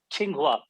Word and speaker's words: Qinghua: uh by the way Qi is pronounced as chi ching Hua the psycho room Chi